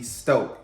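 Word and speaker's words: Stōk: it's going to be stoked y'all see this line over the o lines mean that you elongate so long o so stoke is how you pronounce it so we're going to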